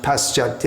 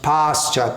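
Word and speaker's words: paśyati: - at our name is commonly pronounced pasyati our that it should be pronounced pasture to pasture today Asia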